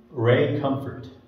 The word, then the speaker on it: Comfort: Ray Comfort.